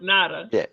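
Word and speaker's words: Ngata: He's pronounced Natada.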